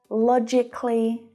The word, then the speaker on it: logically: But when an adjective ends in the k sound, like specific, we don't pronounce the syllable before the ly. And there's lots of examples of this. Realistically, strategically, logically, they're all pronounced in the same way, just like specifically.